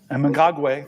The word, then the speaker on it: Mnangagwa: And you always correct me on my pronunciation, so I'm going to try my best. Mnangagwa. Mnangagwa, thank you, sir.